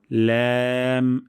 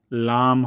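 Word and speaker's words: لام: তারপর ল্যাম, এটিও পাতলা সাউন্ডে, লাম হবে না, ল্যাম পাতলা সাউন্ডে জিহ্বার আগা, কিনারা এবং উপরের দাঁতের মাড়ির সঙ্গে লাগিয়ে আমরা উচ্চারণ করব ল্যাম, ল্যাম।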